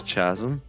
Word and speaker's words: chasm: Chasm chasm this is Chasm it's pronounced Chasm this is a chasm how's this Chasm it's literally CH that literally makes the that makes the sound wait is there another